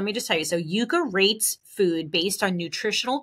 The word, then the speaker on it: Yuka: I believe it's pronounced the Yuka app, Y-U-K-A.